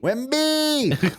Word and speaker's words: Wimby: Okay, we're going to give them the secret word, and it is Wimby. Wimby. No, you got to say it like a San Antonio. Wimby. Wimby.